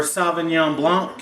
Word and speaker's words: Sauvignon Blanc: I got a little bit of Sauvignon Blanc, or Sauvignon Blanc if you want to say it correctly.